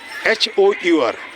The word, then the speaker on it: hour: For example, H-O-U-R. H is what? Consonant. But sound is hour. H is silent, so N hour.